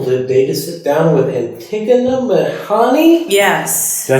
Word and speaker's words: Antigona Mehani: I am really grateful today to sit down with Antigona Mehani.